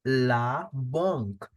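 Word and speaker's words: la banque: will be pronounced as La bong a n will give the sound of on laong for the bank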